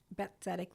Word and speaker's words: Bet Tzedek: Bet Tzedek Legal Services. Bet Tzedek. I know it's spelled with a T though. BET, Bet, and then Tzedek, TZEDK to Hebrew.